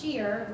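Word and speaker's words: Shir: Westborough called sheer Joy so it's pronounced sheer which is comes from the Hebrew word sheer mean song so it's Joy of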